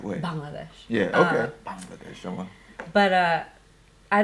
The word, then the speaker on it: Bangladesh: So any Bangladeshi person, I think, of my generation, obviously my parents' generation, the war of liberation, okay.